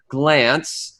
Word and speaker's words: Glantz: And through a friend of a friend, I was able to get a hold of Paul Glantz, like take a glance.